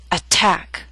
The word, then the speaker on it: attack: through these three examples attack is a word with two syllables stress is on the second attack so T although in the middle of the word is at the beginning of a stressed syllable so we have a true T attack appetizer and secretary are